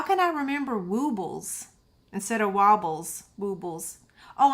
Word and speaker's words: Woobles: You're right, because it is W-O-O instead of W-O-B-B. It is woobles. How can I remember woobles instead of wobbles?